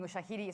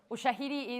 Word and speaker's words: Ushahidi: Sorry, I just jumped in mentioning Ushahidi. So Ushahidi is USHAHIDI.